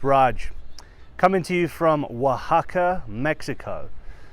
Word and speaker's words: Oaxaca: up guys it's raj coming to you from oaxaca mexico spelled o-a-x-a-c-a i know it sounds different but that's how you pronounce it okay so i'm gonna go through